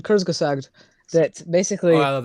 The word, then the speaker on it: Kurzgesagt: essentially pointless because there's a YouTube channel called Kurzgesagt that basically Oh, I love that guy. Yeah. yeah, it's amazing. You pronounced that very well.